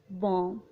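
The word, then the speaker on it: bomb: अगर किसी वर्ड में एम के बाद या टी से पहले बी आता हो तो बी साइलेंट होता है। For example बॉम्ब, date.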